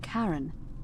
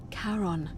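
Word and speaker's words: Charon: is a little off the name you heard wasn't karen it was c-h-a-r-o-n as in caron the ferryman of the dead caron who in exchange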